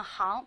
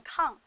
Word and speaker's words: 吭: 行，这个字念行，别念抗。引吭，高歌的吭，它是一个后鼻音，声母是后鼻韵母昂。